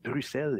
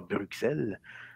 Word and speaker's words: Bruxelles: en bleu bruxelles en qu'il a écrit avec un x ne que l'on doit prononcer comme 2 est-ce donc c'est bruxelles et non pas bruxelles sur le thème à